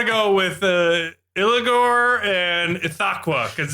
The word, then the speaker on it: Ithaqua: It's pronounced Ithaqua.